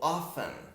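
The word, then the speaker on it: often: o finn a parecidos olha o detalhe ele se escreve com t mas eu não falo com você tá off não falo de afirma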